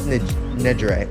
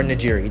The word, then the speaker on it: Nejire: Izuku X Nejire, or Nejiri, depends on what you want to pronounce her name as.